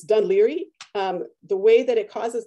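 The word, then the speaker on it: Dún Laoghaire: So this is a sign from Ireland, and it's actually pronounced, obviously, Dunleary.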